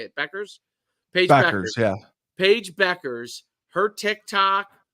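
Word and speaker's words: Bueckers: Paige Beckers.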